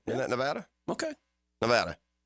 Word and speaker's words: Nevada: state right is that Nevada okay Nevada Dan you actually pronounced it correctly I can't believe it